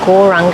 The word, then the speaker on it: Gauranga: mantra to our breath the mantra is gauranga and it's set in four syllables gau ra ang as you inhouse say